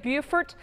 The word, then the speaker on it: Beaufort: Anticipating that this one's going to make landfall here shortly, somewhere in the vicinity, maybe of Beaufort, South Carolina. Yes, it's pronounced Beaufort in South Carolina.